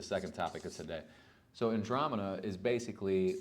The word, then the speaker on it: Andromeda: I was pronouncing it Andromeda, which is what it looks like, right? But it's Andromeda, okay?